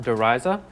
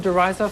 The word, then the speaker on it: Der Riese: saying but guerrilla airport isn't it pronounced deriza and we will be quick to respond that we are just pronouncing it in the good old fashioned ignorant of other cultures american way if you pronounce it derisa feel free but don't condemn us if you think we've got it wrong now moving on therese